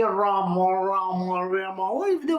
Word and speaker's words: Rama: tongue and speak so this Indian fellow is saying roma roma some kind of a very weird way of saying Rama Rama that's it you can pronounce the word properly isn't it why are